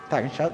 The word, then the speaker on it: Tagesschau: How do you pronounce Tagesschau? Tagesschau, that is the case.